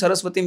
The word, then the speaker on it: সারস্বতে: সে যখন মন্দিরে আমরা নারায়ণ নমস্কৃত্যং নরোত্তমম দেবীম সরস্বতীম ব্যাসম 4 জনকে প্রণাম করে দিলাম, যখন মন্ত্র বলবো কিভাবে বলবো? নমস্তে সারস্বতে দেবে, দেবী নয়, সরস্বতী নয়। কি বলবো? সারস্বতে নয়, এটা ভুল উচ্চারণ।